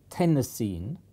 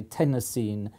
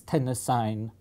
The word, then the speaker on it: Tennessine: I would pronounce it Tennessine, like iodine and chlorine, but some people in America say chlorine and iodine. But my feeling is that everybody will say Tennessine because it sounds just